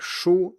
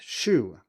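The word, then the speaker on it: 书: the last example, say in a word like shu, meaning book, many English speakers pronounce this as shu, because there is no sound that corresponds to the U sound, so we just pick one that is close enough.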